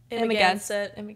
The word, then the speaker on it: Amagansett: Louisville, Kentucky, Chicago, Columbus, Pittsburgh, Washington, D.C., Nantucket, New York, how do you say that? Amagansett.